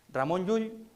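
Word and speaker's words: Ramon Llull: Vamos ya a nuestro tercer autor, Ramón Yull, Ramón Raimundo Lulio, Raimundus Lulus, depende, lo suelo pronunciar en en pues el Mayorquín, que era su lengua, es un autor casi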